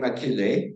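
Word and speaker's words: Achille: I'm going to pronounce his first name Akile, but the French would pronounce it differently.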